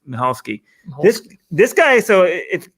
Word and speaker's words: Michalski: it's spelled m-i-c-h-a-l-i-s-k-i i think but it's now pronounced michalski this this guy so in case you guys